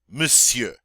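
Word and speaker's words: monsieur: you try it now this one's a little bit odd because it looks like we should say but we don't we pretend like the o n's not there and we just say m don't know why we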